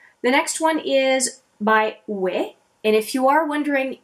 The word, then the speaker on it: Wei: name of that company weight is exactly the way to say it it's sort of like saying yeah it's a different way of saying yes and it is it